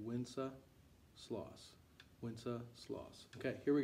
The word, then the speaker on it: Wenceslas: this which is good king wenceslas so say winsa sloss winsa sloss okay here we go 26 i'll